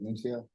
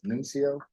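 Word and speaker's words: Nuncio: Eric Nunio. I'm sorry. The last name Nunio. Could you spell that please?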